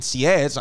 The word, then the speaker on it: Sieyès: Then the second coup was Napoleon didn't tell his other two boys about this, who were Roger Ducos and Sieyès. I don't know how they'll spell that, how to pronounce that, but it's spelled S-I-E-Y-E-S.